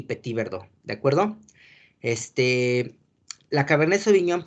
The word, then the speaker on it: Petit Verdot: la Malbec y la Petit Verdot. Se escribe Petit Verdot, ¿ok? Las T's en las palabras francesas no se pronuncia, ¿ok?